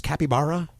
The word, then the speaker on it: capybara: Capybara? Capybara. I think so. I think that's the way you pronounce it. Capybara, yeah. Capybara? Okay. Capybara. Like Yogi Berra, capybara.